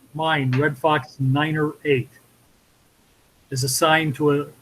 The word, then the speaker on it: niner: i said seven niner the correct way to pronounce a nine over the radio is niner usually each wing has